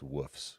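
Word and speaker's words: Wolfs: she's also from HBO's The Night of it's pronounced wols K WS that right and uh the series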